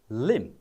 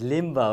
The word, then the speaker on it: limb: Okay, this is limb. Limb. But this is not pronounced as limbo, okay?